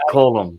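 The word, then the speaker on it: Colm: a hell of an yeah colum colum it's pronounced colum damn it I'm Irish no see no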